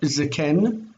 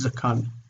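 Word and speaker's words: זְקַן: We would expect zaken, but that's not how it forms. It forms as zakan.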